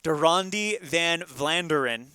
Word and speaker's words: De Ronde van Vlaanderen: De Ronde van Vlaanderen.